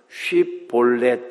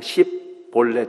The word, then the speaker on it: 쉬볼렛: 에브라임 지파 사람들은 쉬 발음을 못했습니다. 경상도 사람들이 쌀 발음 못하는 거하고 똑같죠. 그래서 요단강 나루터에서 사람들을 검문하면서 쉬볼렛 이렇게 단어를 발음해 보라 그랬습니다. 이 단어는 신의 물이라는 뜻인데 에브라임 사람들이 이 발음을 못했어요. 이 발음을 못하고 그냥 십볼렛 이렇게 발음을 했습니다.